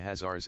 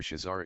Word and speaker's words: Khazar: encyclopedia refers to the hazards as shizars the two spellings are optional according to the best authorities the two are pronounced alike either hazar or shazar is pronounced like the first syllable of costume with the words are